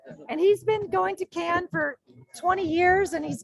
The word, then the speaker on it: Cannes: So Cannes has and I learned the proper pronunciation is to say Cannes. Yes. Not Cannes. Which you just said.